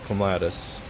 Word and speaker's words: clematis: Now, I've heard clematis pronounced a billion different ways. Right here in Kansas, 6A zone, we call it clematis.